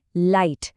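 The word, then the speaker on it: light: अब दूसरा क्लू शब्द है लाइट। इसमें जी एच साइलेंट है। उसे हम बोलते नहीं हैं। पर उसी की वजह से आई की आवाज लॉन्ग हो जाती है। आई लाइट।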